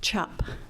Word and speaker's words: Czap: through Ellis Island, and it was spelled CZAP, but pronounced chop, and it got changed to a U.